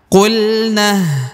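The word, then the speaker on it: قلنا: Contohnya qulna ya, langsung ke ini ya. Jadi alifnya tidak dibaca ya.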